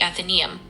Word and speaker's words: Athenaeum: The club is called the Athenaeum, and it's pronounced with an emphasis on the first syllable, like then-e-eum.